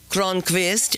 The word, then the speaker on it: Kronquist: Kronquist is the correct pronunciation, not to be confused with any other Sunda Kronquist.